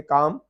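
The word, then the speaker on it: calm: यहाँ पे जो काम है, जो खामोशी हो जाती है काम, तो यहाँ पे एल साइलेंट है।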